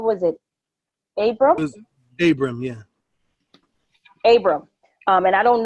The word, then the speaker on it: Abram: It was Abram, yeah.